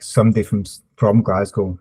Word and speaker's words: Glasgow: on my way to Glasgow and yeah the the other guy just said is pronounced glas go just GL go there is a very